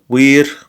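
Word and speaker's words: vir: Wir sum, the V is pronounced like a W here.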